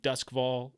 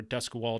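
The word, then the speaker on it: Duskwall: takes place in the city of duskval or dusk wall depending on your pronunciation preference it's a it's a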